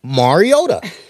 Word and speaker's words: Mariota: Mariota.